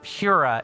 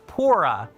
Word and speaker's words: Pora: I spent the whole of Breath of the Wild referring to her as Pura. It's Pora.